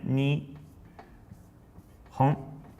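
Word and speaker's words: 日本: we can write a word, which is Japan, ni, hon.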